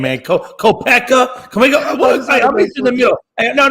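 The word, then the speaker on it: Koepka: at the Masters that's I think it's pronounced kepka you kid probably is and I don't he's got a weird name man kopeka can we go hey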